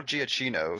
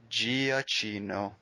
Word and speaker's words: Giacchino: The Michael Giacchino score definitely completed that moment. Could you say his last name again for me? Giacchino.